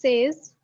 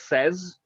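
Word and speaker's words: seize: 16 is says. 16 is says.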